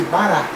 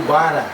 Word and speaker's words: Bará: A divindade Exu, na realidade, chama-se Bará. Muitos conhecem como Bara. Não tem problema nenhum, não tem diferença. Bará para Bara não existe, existe só uma diferença na pronúncia, mas na realidade é a mesma coisa.